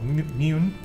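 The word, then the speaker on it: Muinne: what was brewing in Loch Mwen. No, Mune. Shit, you guys just told me how to say it.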